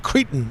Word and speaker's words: Cretin: This is the Mighty Z of Capital Chaos TV, and we're hanging out here with Marissa of Cretin. Did I pronounce it correctly?